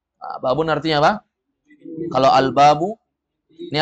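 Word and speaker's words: بابٌ: albabu albabu dengar al-nya hilangkan al-nya menjadi apa babun jangan ragu lagi babun atau babu jawabannya babun karena tidak ada Alif Alif Lam babun babun artinya apa kalau albabu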